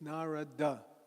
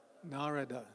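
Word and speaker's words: Nārada: presented in Sanskrit it's narada everybody say narada not narada that's hindiization dropping the last a but we don't do that in Sanskrit in Sanskrit every syllable is pronounced so it's nar nar narada okay so nari is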